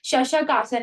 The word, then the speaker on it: शशांक आसन: शशक आसन है इवन और लेकिन उसको प्रोनाउंस शशांक आसन कहते हैं।